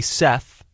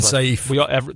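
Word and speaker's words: Kenny Saief: I thought that Kenny Seth, which we now know is his pronunciation. I was saying Saif.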